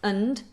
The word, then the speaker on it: and: Now what we tend to do is make the sound weak, so we do the weak version of and, which is and.